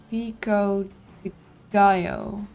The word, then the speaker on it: pico de gallo: It's Spanish, pronounced Pico de Gallo.